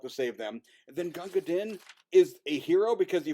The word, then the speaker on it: Gunga Din: That's why I'm going to super pronounce it Gunga Din, because you fuckers are doing it wrong.